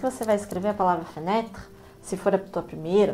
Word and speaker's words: fenêtre: com a palavra janela, que em francês é fenêtre, fenêtre, fenêtre. Fenêtre se escreve com um acento circunflexo no segundo E.